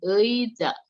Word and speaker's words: 의자: Nah, ini 의자 ya. Si ei ini kalau di depan dibacanya ei. Kalau di tengah-tengah itu bisa jadi e ya. Kamu lihat aja yang kalau di depan itu ei ya.